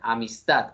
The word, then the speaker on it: amistad: la palabra amistad que yo podría decir amistad amistad amistad amistad amistad amistad la la correcta pronunciación es la tercera amistad entendiendo que eh la